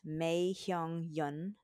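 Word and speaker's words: Mai Heong Yun: And we got this yummy delicious on a hot, hot, humid night at Mei Hyung Yun. I'll spell it out.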